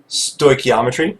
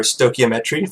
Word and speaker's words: stoichiometric: word you can see it is stoichiometric or stoichiometric for to pronounce both ways and we're going to